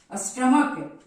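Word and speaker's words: stomach: है लेकिन यहां पर आप बोलेंगे स्टमक तो स्टमक में यहां उच्चारण क्या आया क का आया है ना स्टमक और यहां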